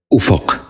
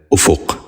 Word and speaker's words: افق: کہیں استعمال کرتے ہیں۔ پہلا لفظ ہے افق۔ یہ غلط تلفظ ہے، درست تلفظ ہے افق۔ دوبارہ سنیے، افق۔ بچوں